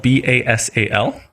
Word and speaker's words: Basal: name so it's a basil and that's spelled b-a-s-a-l basically pronounced bae s-u like kind of basal basal